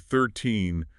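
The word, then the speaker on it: thirteen: With 13, the stress is on the second syllable.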